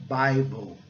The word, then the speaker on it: Bible: Então, Bible, o I recebendo o som de I, que é o som básico, original dele, né? E o E silencioso.